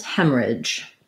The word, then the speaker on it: hemorrhage: other one haleem was hemorrhage so hem marriage um has first syllable stress red tent vowel hem just like the hem of a dress hemorrhage we can say